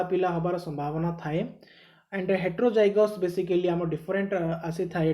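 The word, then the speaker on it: heterozygous: Okay jokes apart next आसीबा हमें हेटेरोजियस। तो what हेटेरोजियस बा हेटेरोजाइगोस। Okay sorry हेटेरोजाइगोस। Okay first होमोजाइगोस then हेटेरोजाइगोस। सो ठीक है प्रोनाउंसिएशन मिस्टेक मे बी।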